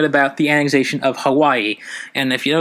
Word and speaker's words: Hawaii: W is a V its Hawaii not Hawaii its Hawaii but I'm gonna just say Hawaii for easy use the way I've also